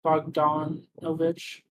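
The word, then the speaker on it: Bogdanovich: You haven't seen that film, but it's by Peter uh Peter I cannot pronounce his last name for the life of me, but it's probably Bog Bogdon Novich and something like that.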